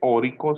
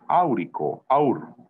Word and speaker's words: áurico: Recuerden que el oro tiene raíz latina, no se dice órico, sino se dice áurico, áurico.